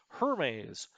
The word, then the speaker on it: Hermes: Do not pronounce this like the French name. It is British. Hermes.